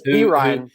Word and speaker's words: Perrine: You mentioned that there are a lot of guys, including, I don't know if I'm pronouncing it right, Ty Perrin or Ty Perrine. I believe it's Perrine.